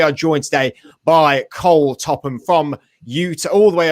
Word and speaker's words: Topham: in in mind that my last name is pronounced top ham but you said it